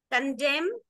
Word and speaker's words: condemn: Condemn doesn't have the sound of N at the end, but condemnation, then N.